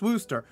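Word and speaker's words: Worcester: abandoned when the pawtucket red sox moved to wooster yes i know it's spelled worchester but it's pronounced wooster mccoy was already maligned as a substandard minor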